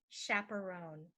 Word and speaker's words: chaperone: strapped to his wrist the next one is chaperone chaperone a chaperone is a person who takes